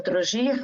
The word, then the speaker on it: Trogir: Se escreve Trogir, mas se fala Trogir, a gente anda olhando